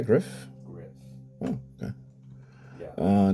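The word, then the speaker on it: Gryff: guide Griff or gri how do you spell how do you say that like that am I correct um uh card number 35 gri I say Griff Griff oh okay yeah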